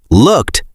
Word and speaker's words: looked: Now, let's share a pronunciation tip for the words look, looked, and looking. Oh, let's look at the past tense looked. The ed sounds like a t sound at the end.